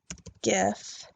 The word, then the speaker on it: gif: soft G like jelly gif has a hard G like goodie I don't have to